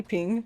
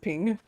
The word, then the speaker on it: PNG: A PNG ping? Yeah, I've always said ping. It just depends on how I'm feeling that day, but most of the time I would say ping.